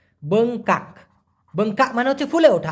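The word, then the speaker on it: bengkak: সেটা হচ্ছে আবার বঙ্কা বি ই এন জি বং কে এ কে উচ্চারণটা লিখে রাখুন বংকাক বঙ্কা মানে হচ্ছে ফুলে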